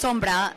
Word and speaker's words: Sombra: Well, in Spanish it's Sombra, so I guess like a direct translation in English would be Sombra, but you can say Sombra.